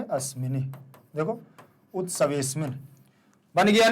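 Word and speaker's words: उत्सवेऽस्मिन्: उत्सवे अस्मिन अलग अलग करने पर अस्मिन पढ़ते हैं, लेकिन एक साथ पढ़ेंगे तो उत्सवेस्मिन। आ का उच्चारण पूरा नहीं करेंगे, ध्यान रख लेना। केवल महसूस होना चाहिए कि आ का उच्चारण किया जा रहा है, बाहर नहीं निकलना चाहिए उच्चारण।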